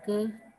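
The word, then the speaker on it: χ: Rumusnya ini adalah ini ya, X kuadrat, ya, K kuadrat, ini dibacanya K, ini C ya tulisannya tapi bacanya K.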